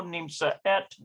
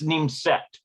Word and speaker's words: nimset: Today in class, and they've got Raquel lo nimsa et. I think it's nimset. That's how you pronounce it.